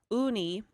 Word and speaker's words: Ooni: This is being offered by the company called Uni. They make pizza ovens. Uni? Yep. How do you spell it?